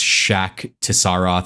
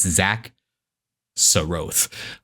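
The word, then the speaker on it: Xak Tsaroth: Zach so uh and that is the canonical pronunciation by the way none of this shakaroth or anything like it's Zach Sroth um thank you like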